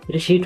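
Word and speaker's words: receipt: यहाँ RACEIPT भनिएको छ, तर यसको उच्चारण भने रिसिट हुन्छ।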